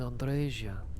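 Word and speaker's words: Andreja: andresia andresia and yes your name is pronounced andresia because I did research into lots of different other East European languages most of them do Andrea but specifically Romanian pronounces it andresia and also one of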